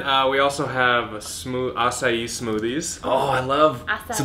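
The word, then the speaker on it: açaí: delicious and then uh we also have smooth assai smoothies oh I love so that's how you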